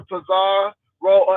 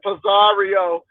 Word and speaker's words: Pizarro: De Miss O to um talk to Pizar roll. As that lady said, Pizario. I'm like, where you get all of these extra syllables? It's Pizarro.